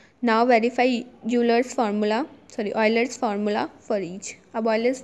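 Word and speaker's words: Euler: हम अपना यूलर्स formula करेंगे या रूल करेंगे। Leonard रूलर, sorry यूलर, pronounced ऑयलर, इसको ऑयलर प्रोनाउंस करते हैं, लियोनार्ड ऑयलर, अ स्विस मैथमेटिशियन।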